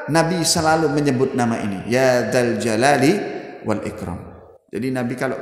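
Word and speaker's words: يا ذا الجلال: Kalimat Ya Dzal Jalali wal Ikram ini dibaca dengan tanda dhammah, Ya Dzul Jalali wal Ikram. Salah di dalam pengucapan. Mestinya bukan Ya Dzul Jalal, tapi Ya Dzal Jalali.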